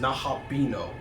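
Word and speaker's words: Nahobino: can put it on Nahabano. I know it's pronounced Nahabino, but I'm gonna say Nahabano because I think it's Nahabano.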